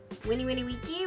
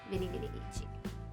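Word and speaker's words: veni, vidi, vici: out, which some of you might say Vini Vini Vici or Winnie Winnie Wiki. Winnie Winnie Wiki, which is the way that he says it in the video, is the classic Latin way to pronounce Vini Vini Vici. But everybody's heard it in movies and they're like, Vini Vini Vici.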